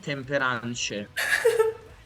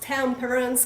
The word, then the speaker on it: Temperance: people during the years told me I really love tempane okay no I can't believe that no I hope this video every one will pronounce Temperance correctly no but I have